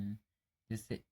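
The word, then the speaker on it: hedge: Bridge pronounce कर रहे हैं। जैसे ADGE है तो यहाँ पे हम इसको डी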